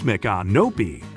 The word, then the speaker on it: Micanopy: With only 700 residents, Micanopy, pronounced Micanopy, was Florida's first inland settlement after the United States acquired Florida.